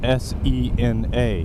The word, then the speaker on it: Sena: Sena is spelled S-E-N-A, which means that it would make perfect sense to pronounce it Cena, and then you could